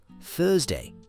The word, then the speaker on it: Thursday: t h u r s d a y Thursday. You have to use that th sound. Put your tongue between your teeth.